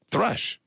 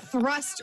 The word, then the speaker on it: thrush: Thrush. You say it wrong every time. And Earlier, you're I- the one who has the disease. Pretty sure you called it thrust earlier.